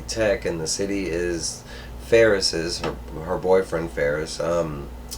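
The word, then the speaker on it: Faris: this badass armor um his name is actually King Ferris but it's it's spelled f-a-r-i-s that's why I kind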